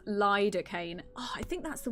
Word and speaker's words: lidocaine: I think you asked about the pronunciation. It is lidocaine.